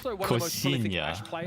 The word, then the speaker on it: Coxinha: Oh, I'm pronouncing it really wrong. Koshinya. Okay, there we go.